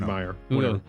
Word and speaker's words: Mayer: 206 years ago today mayor of meyer because it's spelled the same way as oscar meyer oscar m-a-y-e-r all right meyer ernst schroeder the german